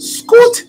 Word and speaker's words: Scoot: And while you're doing that, we have another question from Scoot from YouTube. Nadji, can Miles say hi to me and say my name? It would make my day. It's pronounced Scoot, not Scott.